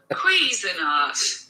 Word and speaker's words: Cuisinart: Cuisinart. Cuisinart. That's how you say it.